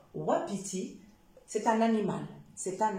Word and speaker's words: wapiti: wagon et ça peut donner aussi le son ouais comme wapiti d'accord wapiti c'est un animal c'est